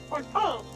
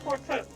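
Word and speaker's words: Fortemps: Forton is what how it's pronounced. Not Forton.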